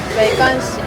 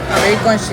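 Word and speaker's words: 没关系: - Meiguanxi, méiguānxi - I also learned “meishi meishi” - Apparently Chinese people use that more often - We only learned things like meiguanxi and duibuqi - But if you actually use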